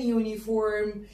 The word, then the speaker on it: uniform: اقول uniform ولا an uniform؟ يلا الشاطرين يردوا عليا. انا قلت uniform، اليو نطقتها يو، ما قلتهاش ساعتها ينفع اقول an؟